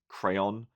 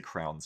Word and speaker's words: crayon: I think the rest of the world pronounces this crayon. But in Australia, we're kind of lazy and we shorten everything, so we just say crowns here.